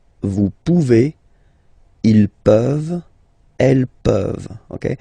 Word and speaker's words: vous pouvez: Then vous pouvez. Okay, classic ending as well for the vous form. A Z like that. Okay, remember you pronounce it e.